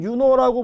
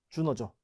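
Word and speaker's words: Iuno: 우린 유노라고 보통 라틴어식 발음으로 하는데 영어식 발음에 익숙하신 분들이 있죠. 주노죠.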